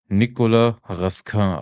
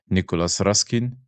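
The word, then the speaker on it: Nicolas Raskin: That's pronounced French his name is right because some commentators call him Nicolas Ruskin as if he is like Russian or whatever, but I think it's Nikola Raskin.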